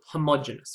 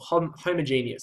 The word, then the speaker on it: homogeneous: first type we call homogeneous or homogeneous some people pronounce it and that is evenly